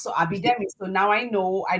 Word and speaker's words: Abidemi: Well, no, you were giving it the African pronunciation, which is not inaccurate. But I just use I'm from Guyana, so I use the Guyanese. And the Abidemi is simple because it's just exactly how it looks.